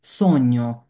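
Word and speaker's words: sogno: দেখেন জি, এখানে এই শব্দটা মাথায় রাখবেন যে যখন আমাদের এই যে জি এন এ থাকবে তখন জি এর উচ্চারণ হবে না, তখন কি এন এর উচ্চারণ হবে, যেমন সৈন্য, সৈন্য মানে কি, সৈন্য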